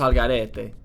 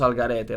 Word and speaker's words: al garete: It's like vamos al garete. Like you said, like, vamos al garete.